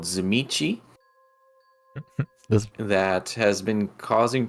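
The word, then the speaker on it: Tzimisce: Zamichi. Zamichi. And it's spelled like Zamichi. Tizimisk, so it doesn't help.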